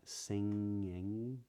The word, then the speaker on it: singing: the G isn't pronounced but when I say sing or singing the G is still not pronounced even though it's in the middle of a word so when you get